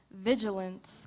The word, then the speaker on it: vigilance: Contestant, your word is vigilance. This word has 2 correct pronunciations. Vigilance, vigilance. Vigilance.